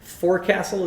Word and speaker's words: forecastle: That's how you pronounce it. Forecastle is how it's spelled, but I think it's called a forecastle.